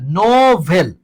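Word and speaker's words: novel: আরেকটা হচ্ছে দেখো, এন ও ভিই এল, এন ও ভিই এল, নোভেল।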